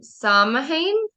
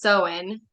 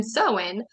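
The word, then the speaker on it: Samhain: the night of October 34 they celebrated um sahain I think is how you say that oh um actually it's pronounced soen it's spelled s m ha a i n but up here it has the pronunciation soen um when it was believed that ghosts ghost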